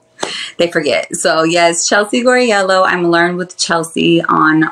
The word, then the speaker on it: Guarriello: just like H they for so yes Chelsea gorello I'm learned with Chelsea on all social media platforms and yeah that's my name okay so let me make sure I pronounce it correctly gorello yeah beautiful gorell okay all right that's new